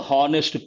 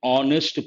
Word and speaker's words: honest: an honest person a harnessed person not correct here h is silent so we have to say an honest person even that you have